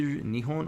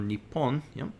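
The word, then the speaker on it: 日本: use the word nihon which can be pronounced as either nihon or nippon nippon ichi the video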